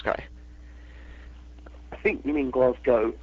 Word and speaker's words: Glasgow: But, yeah, the correct pronunciation for Scotland's Glasgow is Glasgow, G-O-W.